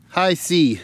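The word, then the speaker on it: HISEA: new boots they're uh High SE is how they pronounce that h i s e a high SE these are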